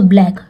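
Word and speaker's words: black: ब्लैक यहां पे देखिए सी के बाद के है तो ये भी हां तो सी यहां पे साइलेंट है तो ब्लैक ठीक है सी के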